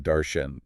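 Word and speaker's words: darshan: That's d a rs an pronounced sort of like daren. Darcen.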